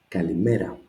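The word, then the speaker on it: Καλημέρα: Ka, li, me with accent. So this syllable takes the accent. Kalimera.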